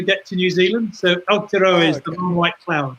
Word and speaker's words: Aotearoa: want to talk to you about the Tour Aotearoa. I pronounced that correctly? Aotearoa, I think it is. Aotearoa.